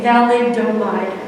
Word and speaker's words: thalidomide: Okay, thalidomide, okay.